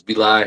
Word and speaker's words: Vilai: Can you give us the true pronounce pronunciation of your your name? Yes. Uh hey everybody. My name is Beli.